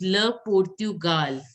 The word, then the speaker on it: Le Portugal: It is Le Portugal. Le Portugal. Again, Le Portugal. see, it is Le Portugal. O-R is pronounced as O.